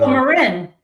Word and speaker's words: Marin: Is that Marin? Marin. Is that how you pronounce it?